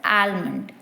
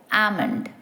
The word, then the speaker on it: almond: by by mistake so you have to remember that the L is silent think of it as a which is two syllables and practicing it without the l sound as amond the second word is